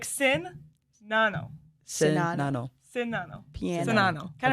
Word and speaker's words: Czinano: Czinano? No. Oh, dang. See? It's not just Okay, me. so the C is pronounced like an S, and the Z is silent. So it's like Czinano.